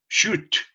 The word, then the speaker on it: should: listo para dar consejos sho listo no se dice sh listo Nada de de pronunciar la l simplemente sh so allow me to